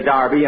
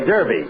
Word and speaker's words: Derby: Saturday bill that's Derby the English say Darby and the Americans say Derby yeah and the losers